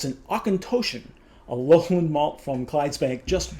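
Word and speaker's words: Auchentoshan: up online it's an awkin i should be pronouncing my better but it's an ocontoshan alohan malt from clydesbank just west of glasgow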